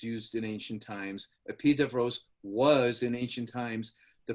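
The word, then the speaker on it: Epidaurus: ancient site that's called it's spelled epiduras it's pronounced the pied of rose it was it's got a huge beautiful 14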